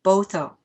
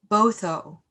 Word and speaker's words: Botho: In her speech, she said that her understanding of human rights comes from her own Botswana culture's value of Botho, and it's spelled B-O-T-H-O, which emphasizes the interconnectedness of all people.